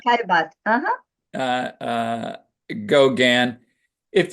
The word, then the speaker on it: Caillebotte: Cezanne, Monet, Manet, Gauguin, Van Gogh, Renoir, Pissarro, Caillebotte. Did I pronounce that correctly? Yeah, Caillebotte, Caillebotte.